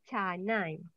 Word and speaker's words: canai: Saya pula suka makan roti kanai or canai? Pronounce C, what is it? Kanai. Are you sure kanai? Pronounce C, pronounce C. Kanai. No, pronounce C in Bahasa Melayu is cha, canai.